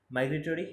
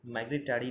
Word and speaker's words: migratory: মাইগ্রেটরি MIGRATORY, মাইগ্রেটরি, মাইগ্রেটারি নয় কিন্তু মাইগ্রেটরি, TORY, টরি, মাইগ্রেটরি।